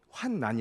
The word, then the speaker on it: 환난: 그 일은 환난 입니다 그러니까 여러분 앞으로 환난이 라고 발음 하십시오 이렇게 자 박혀 들어가고